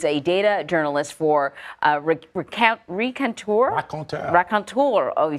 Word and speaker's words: Raconteur: Did we say it in a French way? I mean, that's how I would read it, right, Clara? Is that how you say it, Clara? Raconteur, yeah.